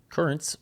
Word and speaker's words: Curranz: Currents, which is spelled CURRANZ, is a pre-workout supplement that I